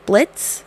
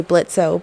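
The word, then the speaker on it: Blitzø: show their leader is Blitz the O is silent his name is really blitzo but like every episode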